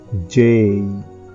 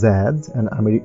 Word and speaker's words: Z: এক্স ওয়াই এন্ড জেড ব্রিটিশে বলে জেড American হচ্ছে আমাদের জি বলা হয় উচ্চারণটা জি করা হয় ঠিক আছে এগুলো হচ্ছে আমাদের সম্পূর্ণ লেটারের স্পেলিং স এগুলো আমাদের সঠিকভাবে শুদ্ধভাবে করতে হবে।